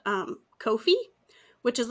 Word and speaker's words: Ko-fi: GIF and was it Kofi coffee what is it because it's like buy me a coffee but it's k o dash f i Kofi which they said rhymes with no fee because it's like no